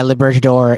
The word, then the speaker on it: libertador: you pronounce it libertador it's um it's the spanish word for liberator la birchador yeah libertador it's uh it's a